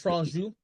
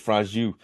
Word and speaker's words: Franju: This director, I'm trying to pronounce his name. George Franju. There you go. Good. I appreciate George you doing George Franju. that. It's Franju.